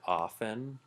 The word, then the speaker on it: often: pronounce it off 10 which is completely wrong because the T is silent it'd be like pronouncing